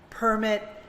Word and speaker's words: permit: Again, you hear both syllables being stressed differently. Permit and permit.